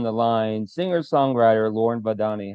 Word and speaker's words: Vahdani: All right, everybody with me on the line, singer, songwriter Lauren Vadani. How you doing? I'm good. How are you? Did I get the pronunciation right?